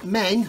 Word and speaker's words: Meng: That has been the Meng, or Ming, however you want to pronounce it, 9K37M1BUK air defense missile system.